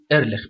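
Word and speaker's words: Ehrlich: في عندي يا جماعة عالم اسمه باول ايرلخ، باول ايرلخ بالعربي ايرلخ، في ناس بتقولها ايرلخ بالانجلش، يعني لو على حرف الخاء عندهم ما بيقولوش، فخلينا احنا نقوله هو الماني فبيتنطق كده باول ايرلخ.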